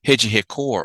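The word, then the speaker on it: Rede Record: networks in the country is a hedgy head core or record TV if you were to see it you would have pronounced it in English and this story that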